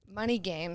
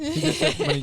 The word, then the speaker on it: Money Gang: Money Game. So that's. Oh, I said it wrong. You say Money Gang? I did. Money Gang.